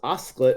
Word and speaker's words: osclate: Oh, for what it's worth, it's pronounced osclate. It's a portmanteau of the word Oscar and chocolate.